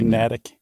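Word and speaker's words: Natick: is in uh natic or Massachusetts how you pronounce it's got to be natic natic yeah totally okay and that's supposedly the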